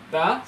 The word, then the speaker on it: the: অবশ্যই এটার উচ্চারণ হলো দা, দি না। হ্যাঁ, আমরা উচ্চারণে ন্যাচারাল না তো, তাই এটা চলে আসে। এটার উচ্চারণ নেটিভরা বলেন the students who want to